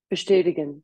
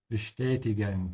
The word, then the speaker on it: bestätigen: Bestätigen, to confirm. Bestätigen, to confirm, with a sh because of the st.